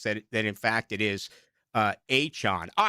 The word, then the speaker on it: Etienne: Did you see the deal today, by the way, Aaron, with Travis Etienne, who came out and said, that is not how you pronounce my name. You pronounce it Travis Achon.